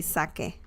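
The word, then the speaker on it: saque: that they will say sake they will say sake like the drink Sake sake it sounds from it's the same pronunciation sake and the Japanese alcoholic liquor I think so yeah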